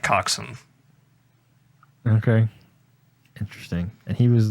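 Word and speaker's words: coxswain: spelled Cox Wayne but I think it's pronounced like coxen okay interesting and he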